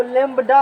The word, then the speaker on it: lambda: तरंग जैसे फ्रीक्वेंसी मैंने सीख लिया, वेवलेंथ इसको इंडिकेट करते हो इस सिंबल लैम्डा से। वो लैम्डा नहीं, वो लैम्बडा है एक्चुअली में, वो इसीलिए लिखे हैं वहाँ पर हम इसको LAMBDA, लोग उच्चारण में से नहीं करता है।